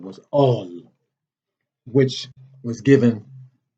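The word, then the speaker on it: الله: book called the quran which the letters that spell that name is a-l-l-h or aleph lam lam ha in arabic not a-l-l-a-h it's a-l-l-h so they have perverted that name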